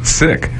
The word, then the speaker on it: Sikh: Some well-meaning people mispronounce it to avoid sounding disrespectful, but the correct pronunciation is Sikh.